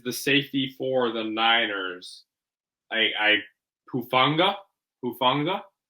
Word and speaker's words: Hufanga: Hufanga, I'm pretty sure is how you say his last name.